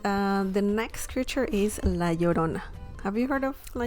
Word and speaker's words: La Llorona: um in latin american folklore la llorona is pronounced well la llorona that means the whipping woman or the whaler